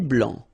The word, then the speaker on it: blanc: Un thé vert, un thé blanc, final C not pronounced.